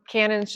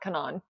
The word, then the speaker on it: Canon: guess in Japan okay cool good to know Canon's just Canon not Canan Canan Canan yeah Canon Canon you had a